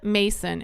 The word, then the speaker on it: Masson: It's Angela Mason, and it's spelled Masson.